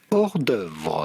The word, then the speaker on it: hors d'oeuvre: Simply hors d'oeuvre.